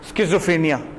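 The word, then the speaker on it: schizophrenia: ये मैं इसका लिखा हुआ भी है, प्रोनाउंस ऐसे होता है, स्किज़ोफ्रेनिया।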